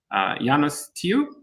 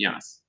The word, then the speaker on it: Janus: We have with us today Janus. Am I pronouncing that correctly? Hopefully. And confusing, I know. Okay. Yeah, but Janus works as well.